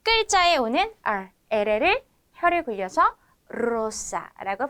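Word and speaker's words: Zara: 어 이렇게 첫 글자에 오는 R를 혀를 굴려서 사라고 발음한다고 했습니다 자 마지막으로 스페인의 유명 브랜드서 자라 스페인어 식으로 발음하면 사라 또는 사라 이렇게 발음해 줘야 합니다 자 이번에는요이어서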